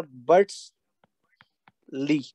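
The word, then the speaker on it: Bütschli: एंड दूसरा scientist था बेटा बर्ट्स ली, ठीक है। तो यहाँ पे आप सी एच साइलेंट रखेंगे तो बर्ट्स ली आप याद रखेंगे।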